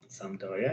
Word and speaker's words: Sampdoria: Is that how you pronounce it? Sampdoria, yes.